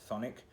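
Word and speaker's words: Chthonic: called sonic it's actually spelled c-h-t-h-o-n-i-c but it's pronounced phonic this album is boutique this is their well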